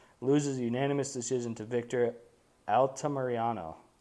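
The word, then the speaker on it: Altamirano: unanimous decision to Victor altamariano there we go I said it right now Alta Mariano um it was kind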